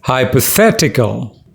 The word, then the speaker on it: hypothetical: pronounce this word it's hypothetical there are five syllables and the third one is stressed fat hypothetical it means